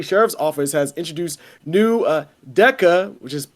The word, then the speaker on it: DEKA: But yeah, so it says Cobb County Sheriff's Office has introduced new DECA, which is spelled DEKA, Sentry robots to enhance security in Georgia's jails.